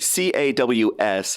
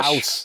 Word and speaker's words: Caws: or international, is so the CAWS is it's Welsh Caws. for cheese, and it's Caws. Caws. Yeah, exactly. So, don't worry about it, Rand, because English people can't get it right either. It's only Welsh people who can sort of pronounce it. So I mean it's Caws. That's the pronunciation.